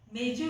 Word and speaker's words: मेजो: हालांकि मैं जिन बंगालियों को जानती थी वो इसका उच्चारण हमेशा झ करते थे, लेकिन मुझे चैताली जी ने बताया और ठीक करवाया कि वो ज है, कम से कम लिखित में। तो मैंने सोचा कि वो ओरल और लिखित का जो है अंतर होगा।